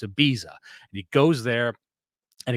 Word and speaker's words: Ibiza: So he goes to Ibiza, or as they call it, Ibiza, but I don't like pronouncing it like that, so it's Ibiza.